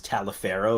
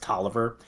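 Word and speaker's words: Taliaferro: confederate general who you think his name is talifero but it's pronounced toer uh around here uh Francis Parkinson kais looks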